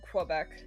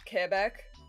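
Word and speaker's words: Québec: The deity can also pronounce Quebec properly, not Quebec. That's how most people say it though. It's just Quebec. Yeah. But technically it's Kebeck.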